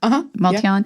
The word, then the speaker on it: MultiOn: Elon Musk's company, a Perplexity, the bot company, Multion, is that how it's pronounced? Multion, yeah.